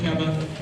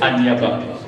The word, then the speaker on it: Aniaba: Le prince Niaba. Répète. Niaba. Non, c'est Aniaba. Aniaba. C'est le prince Aniaba.